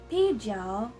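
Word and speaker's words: 啤酒: So as you can see, the first syllable is 啤, 啤. It has the second tone, so we're gonna sound like we're asking a question. So it sounds like 啤, 啤. And the next syllable is 酒, 酒, 酒. So as you can see, it has the third tone. So we're gonna sound like our throat is going downwards as well.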